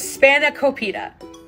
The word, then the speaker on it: spanakopita: The word is spanakopita. It's 5 syllables, okay?